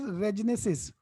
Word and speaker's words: Regenesys: How you pronounce it? Regenesys. Regenesis. It's a Regenesis.